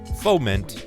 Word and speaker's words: foment: me complicated words this is a kids show foment i was right i'm great you know what